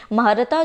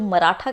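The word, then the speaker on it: Mahratta: महारता जो था वो इंग्लिश में, इसको कुछ लोग जो मराठा के नाम से भी प्रोनाउंस करते हैं, कुछ महारता के नाम से भी करते हैं, तो इंग्लिश में वो हुआ था।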